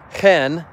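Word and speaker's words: הֵן: There's hen, just like a chicken hen, H-E-N, and then there's hineh, H-I-N-N-E-H, I believe is how it's spelled, hineh.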